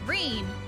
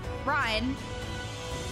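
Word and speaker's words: Ryne: That was right. That was the correct pronunciation. Reen, not Ryan, are being escorted to the worksite, and by both Crystarium and your moron soldiers, no less.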